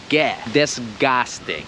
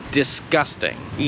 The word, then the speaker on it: disgusting: chodzi o to że bardzo często Polacy bardzo mocno wymawiają to 3DS gasty i tak po prostu nie trzeba to wymawiać to jest discussed and discussed in i nie jest casting